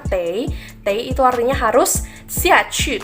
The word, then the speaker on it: 得: Wo saya tei harus, ini juga bisa dibaca te, tapi di sini kita pakai yang bacanya tei.